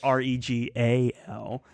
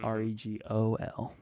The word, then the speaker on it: Regal: Yeah, I'm just like, I think of Regal as the antagonist in Assassin's Apprentice, but it's Regal, not Regol.